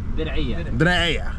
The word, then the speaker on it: Diriyah: Driya.